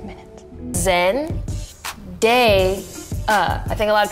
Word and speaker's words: Zendaya: Zen. Day. I think a lot of people see my name, they think it's more fancy than it is, and like, they think Zendaya, like papaya. It's just Day.